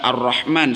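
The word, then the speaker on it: الرحمن: Lafaz Ar-Rahman sama disebutnya alif lam syamsiyah. Ro diharkatan dengan harkat fathah, maka ro ini dibacanya tafkhim, tebal. Hirrah. Bibir bawah yang paling bawah itu dibacanya atau diangkat ke atas jadi hiru jadi subah tebal.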